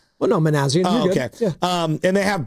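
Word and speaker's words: Minasian: They do have Zach Manajan as the GM. He's the eye. And then you have Buster's own IQ. I didn't say his name right. Well, no, Manazian.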